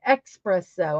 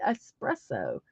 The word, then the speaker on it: espresso: pronounce it I put expresso I put an X and I'm like that's not right it's espresso so I did correct